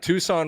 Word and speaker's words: Tucson: on yeah yeah let's move on we got Tucson Regional which uh Demitri misspelled on the graphic